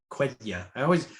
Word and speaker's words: Quenya: Yeah, Kenya is Quenya. I read it Kenya, but it's Quenya.